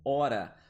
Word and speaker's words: hora: O H não tem som. Ele não vai produzir som.